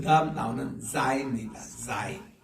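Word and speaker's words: Zayin: 자인, Z-A-Y-I-N, 자인이라고 읽는데 우리 한번 따라합시다. 자인.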